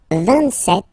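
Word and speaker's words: vingt-sept: 26, 27. Remember set, it was this P disappear. You don't pronounce it.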